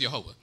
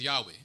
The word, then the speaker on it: Yehovah: That the God that created the heavens and the earth, and in this place, we pronounce his name as Yehovah. Many people around the world may pronounce his name as Yahweh.